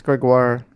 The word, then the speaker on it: Gregoire: You wrote with Carolyn Gregoire. Is that how I say her name? I think it's Gregoire.